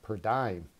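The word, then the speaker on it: per diem: Railroad controlled cars carry a rental charge called per dime. And yes, that is how the railroads pronounce it.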